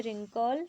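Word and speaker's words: wrinkle: First second third तीनों में हम पढ़ेंगे रिंकल, रिगल और राइट। W साइलेंट है।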